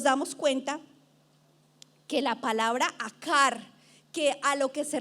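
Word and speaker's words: עקר: que fue escrito, aparece una palabra que es akar, A-Q-A-R, se pronuncia akar, que significa esterilidad.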